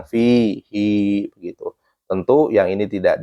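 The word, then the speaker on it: فيه: Kemudian kecuali di surat Al-Furqan, fihi harusnya kan dibaca pendek, fihi ini malah dibacanya panjang, fihi, begitu.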